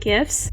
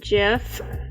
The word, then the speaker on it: GIF: Today we're going to be working on animated GIFs. I'm sorry for anybody who pronounces it GIF. I pronounce it GIF.